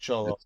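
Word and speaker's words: Xolo: okay cholo yeah because x o l o but cholo it's pronounced cholo yeah so I cannot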